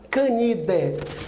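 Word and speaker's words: Canidae: é a família Canindé se escreve candiday mas não se pronunciou a Canindé a ordem carne vó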